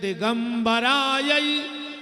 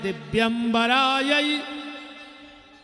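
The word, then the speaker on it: दिव्याम्बरायै: उसका भी कुप्रभाव पड़ेगा जैसे एक मंत्र बोलते हैं सब मंदार माला कुल ताल का यई कपाल माला चित से खरायो और आदमी जल्दी जल्दी में कहते दिगंबराय च दिगंबराय नमः शिवाय च नम शि वायो य गलत है मं यह भगवान शंकर और माता पार्वती का आवाहन है उसका शुद्ध उच्चारण है दिव्यम बराय जिनके दिव आभूषण है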